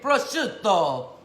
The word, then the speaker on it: prosciutto: It has cream cheese, it has Gorgonzola cheese, it has pears, prosciutto, I'm gonna say it right, prosciutto.